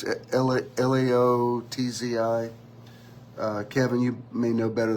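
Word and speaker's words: Lao Tzu: Most people agree this probably came from, and I'm probably mispronouncing it, Losci. It's Laotzi.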